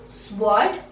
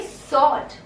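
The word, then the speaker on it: sword: स्वॉर्ड नहीं बोलोगे, you will say सॉर्ड. सॉर्ड. सॉर्ड. Okay, यहाँ पे जो W है ये साइलेंट रहेगा. You will not pronounce the वर्ड W over here.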